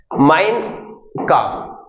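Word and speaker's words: Mein Kampf: लेते हैं क्या है माइन काफ यहां पर जो पी है वो साइलेंट रहेगा ओके तो माइन काफ का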